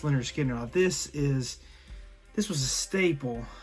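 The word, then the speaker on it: Lynyrd Skynyrd: As Leonard Skinner pronounced Leonard Skinner.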